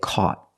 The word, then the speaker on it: caught: past we say caught the Au makes a sound back here a a c the GH is silent and the t is a stop T caught not caught caught make a stop T put your tongue up and stop the air caught they caught him